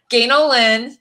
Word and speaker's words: Ganel-Lyn: Ganel-Lyn sounds like. Well, my dad used to say it sounds like Angel G in the wrong place, but you know, I'm confused.